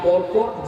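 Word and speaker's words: بركة: আর এই বরকত যার জীবনে থাকবে না, তার জীবনে কোনো সুখ শান্তিও থাকবে না। বরকত এই শব্দটির আরবি উচ্চারণ হলো বারাকা।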